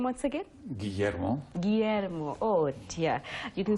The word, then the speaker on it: Guillermo: Take me through the pronunciation of your name once again. Guillermo.